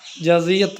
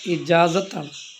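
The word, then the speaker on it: إجازة: ഇജാസിയത്ത് കിട്ടിയിട്ടുണ്ട് ഇജാസിയത്ത് കിട്ടിയിട്ടുണ്ട് ഇജാസിയത്ത് അല്ല ഇജാസത്താണ് യാഹ് വേണ്ട അവിടെ ഇജാസത്ത് കിട്ടിയിട്ടുണ്ട് അങ്ങനെ പറയേണ്ടത് പിന്നെ വേറൊന്ന് നമ്മള് പള്ളിയില്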